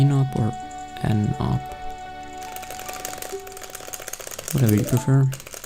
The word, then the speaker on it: ennopp: It's pronounced E no poor N up. Whatever you prefer. Since it's short for, N up makes more sense.